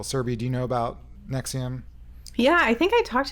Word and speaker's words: NXIVM: about a multi-level marketing company called nexium that's spelled nxivm because and they've been